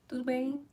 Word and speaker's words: Tudo bem: Tudo bom? Tudo bem? Oh, yeah, that's how you say it.